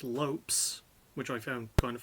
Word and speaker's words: Lopes: fight first of all Bruce Buffer mispronounced Lopez's surname is just Lopes which I found kind